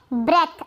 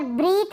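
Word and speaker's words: breath: फिर है ब्रेथ। अब यहाँ पर ब्रीथ नहीं पढ़ेंगे, इसको पढ़ेंगे ब्रेथ। यहाँ पर प्रोनाउंसिएशन मैंने बता रखा है ब्रेथ।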